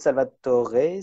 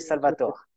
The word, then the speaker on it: Salvatore: oui, sais, c'est oui, Salvatore. je sais bien, il y a beaucoup de gens qui le prononcent à l'italienne, mais finalement, on parle en français, donc c'est bizarre.